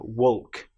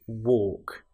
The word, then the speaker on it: walk: Now you'll notice that in both of these words, walking and talking, we have the L, which isn't produced. It's not, we don't hear the L woke. It's walk and talk.